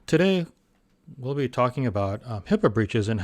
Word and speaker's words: HIPAA: etc so first um there's always some confusion as to hipaa it's actually hipaa you'll see it's spelled hipaa h-i-p-p-a that's not right and of course it's a hippo which is the big creature